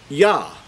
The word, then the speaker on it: Yah: The yod and the hey would give you the pronunciation of Yah.